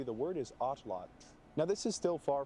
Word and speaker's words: atlatl: of the language nawat, you do not pronounce the L at the end of the word as a syllable. So pronounced correctly, the word is atlot.